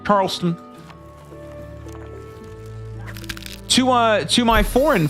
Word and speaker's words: Charleston: the second one I've heard people call it Charlston not it's not how it's spelled it's not how it's pronounced Charleston Charleston to uh to my foreign friends out there